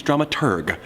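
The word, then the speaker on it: dramaturg: The correct pronunciation is drama tur, the researcher of the plays and operas being put on.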